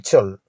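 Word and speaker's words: sow: ஒரு கன்சக்ஷன் அதாவது இணைப்புச் சொல். இரண்டு வாக்கியங்களை இணைப்பதற்கு பயன்படுத்தப்படும். எஸ் ஓடள் சோ இந்த வார்த்தையில் கடைசியாக வரும்டள் என்ற எழுத்தை நாம் உச்சரிக்க கூடாது.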